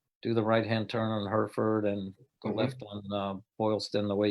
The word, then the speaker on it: Hereford: came up her furred her fur does it's pronounced came up Hereford and instead of touring left on Boston you